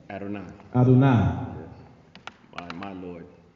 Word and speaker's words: Adonai: Now, how you pronounce Gary got his certificate in Hebrew, so he's going to help me with the pronunciation. It's Adonai? Adonai.